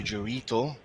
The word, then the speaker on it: Gerito: Eventually the ball falls to Gerito. Rhymes with Dorito.